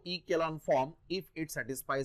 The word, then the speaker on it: echelon: टू बी इन रो ई केलॉन form okay row ई केलॉन ई सी एच ई एल ओ N spelling व्यवस्थित लक्षात ठेवा रो ई केलॉन किंवा रो ई चेलो pronunciation row इक्वलन form if it satisfy